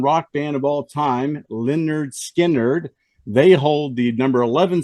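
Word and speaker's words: Lynyrd Skynyrd: band of all time Leonard skinnard they hold the number 11 seed with pronounced Leonard Skinner doc you must really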